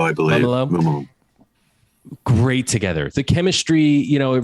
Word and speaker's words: Mumolo: Mumolo, I believe. Mumolo.